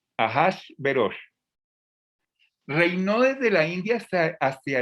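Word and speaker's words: אחשורוש: nombre que suena raro y como lo pronuncian los hebreos ajas veros así lo pronuncian los hebreos el nombre de azuero hojas ajashverosh reino desde la india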